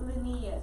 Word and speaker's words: Linnaeus: Carlos Linnaeus is how we say his name.